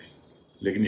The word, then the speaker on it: whole: डब्ल्यू के बाद जब एच आता है तो कई बार डब्ल्यू खुद साइलेंट हो जाता है, जैसे WHOLE होल, WHOAC हुज, इसमें भी डब्ल्यू साइलेंट है।